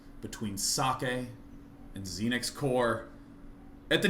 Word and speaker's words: Socke: And I've asked him, he said it's okay that I pronounce it Socke.